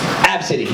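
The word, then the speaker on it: Abcde: Absidy, yeah. Congratulations, if you got it right, you get a drink on your tab. But yeah, so literally, it's pronounced Absidy, which is dumb.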